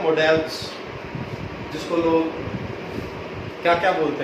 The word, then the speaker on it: modals: आज पढ़ रहे हैं मॉडल्स, जिसको लोग क्या क्या बोलते हैं, मॉडल्स भी बोलते हैं, मॉडल्स भी बोलते हैं, बट मैं बताने जा रहा हूँ इसकी करेक्ट प्रोनाउंसिएशन है क्या। इट्स मॉडल्स।